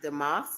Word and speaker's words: DeMoss: I think her last name is pronounced DeMoss.